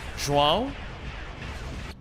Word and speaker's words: João: I swear to God, it's pronounced how? João? The first one. So João. Like that? Every Portuguese person tells me I've never pronounced it correctly. First one is legitimately the closest.